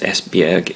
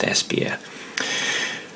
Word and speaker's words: Esbjerg: drove to in the last video isn't actually pronounced espyeg it's actually pronounced espier so um um we arrived in espier and